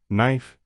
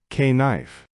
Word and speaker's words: knife: The K is silent. We say knife, not K knife.